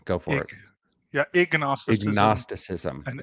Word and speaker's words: ignosticism: I'm going to have to get you to Ig, pronounce it. Please go for it. ig. Yeah, ignosticism Agnosticism.